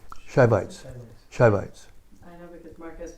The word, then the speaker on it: Shivites: Subites? Savites? Shivites.